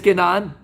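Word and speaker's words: כנען: Beretz Kenaan, l'idolâtrie, la perversion, et j'en passe, des vertes et des pas mûres.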